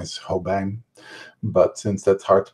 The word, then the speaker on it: Hobijn: bark I'm the professor my last name is Ho bang but since that's hard to pronounce I just go by my first name